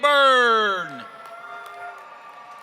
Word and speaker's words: Byrne: Pronounce burn like a fire. From the Department of Arizona, District 10 Commander Lori A. Byrne.